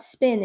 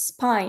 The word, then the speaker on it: spine: away said, "Oh no, it's not spin, it's spine," because he knew what I was talking about.